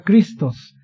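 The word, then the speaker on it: Χριστός: Se escribe en griego ahí, pero se pronuncia Christos.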